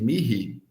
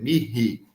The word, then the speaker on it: mihi: Aquele H no meio de Mihi se pronuncia para nós é como se fosse aquele R, não é? Mihi, Mihi, esse som mais pronunciado na garganta, mais aspirado, né?